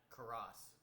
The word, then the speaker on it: Karras: I cannot pronounce his name. Karras, Correct.